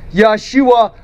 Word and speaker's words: Yahshua: name of jesus and the hebrew you would pronounce his name yahshua a mashiach all right